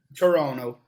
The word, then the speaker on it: Toronto: uh talking toronto okay as if there is no t in the end toronto yes depends on the